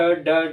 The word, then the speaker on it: ड़: ड ढ अड़, लेकिन यहाँ ड ढ नहीं ढ पढ़ेंगे। मतलब जब आप उच्चारण करेंगे तो आपकी जीभ तेजी से ऊपर जानी चाहिए, फिर तेजी से नीचे आनी चाहिए, तब जाके इसका उच्चारण हो पाएगा ड़ ढ में।